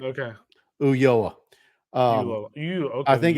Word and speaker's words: Ulloa: It's Ulloa, right? Ulloa? Yeah, you got it right. Okay. Ulloa.